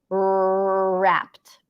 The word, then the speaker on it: wrapped: wrapped actually Maria um when there is a w before an R it we need to treat it as if it doesn't exist we actually don't pronounce a w it's as if there is just an R sound there so you treat it like an R wrapped right wreck different